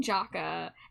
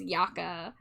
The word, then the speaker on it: Yaka: Because I was saying Jaka, and then I saw Litchi say it's pronounced Yaka, and also Jaka is acceptable.